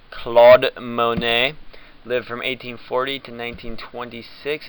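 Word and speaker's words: Claude Monet: accomplishment was this amazing beard okay CLA Monae pronounced Claude Monae lived from 1840 to 1926 and he is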